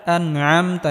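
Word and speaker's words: أَنْعَمْتَ: সিরাতাল্লাযীনা আনআমতা, এখানে আইন গলার মধ্যে হালকা চাপ দিয়ে উচ্চারণ করতে হবে।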